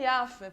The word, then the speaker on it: Jaffe: Na origem é Jaffe, porque é uma palavra hebraica e também sérvia, e lá o J se pronuncia como I. Então, na origem seria Jaffe, mas agora brasileirou, a gente fala Jaffe.